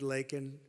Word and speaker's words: Laken: Right here in Georgia, our nation was robbed of a brilliant 22-year-old nursing student, Laken Riley.